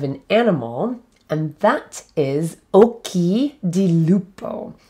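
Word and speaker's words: occhi di lupo: animal and that is okie di lupo oki di lupo so the first word is oki occ h i again there's that ch pronounced with the k sound i keep saying this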